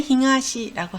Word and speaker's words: 東: 훈독으로 읽을 때는 힝하시라고 합니다. 힝하시. 그래서 동쪽을 힝하시라고 하고요.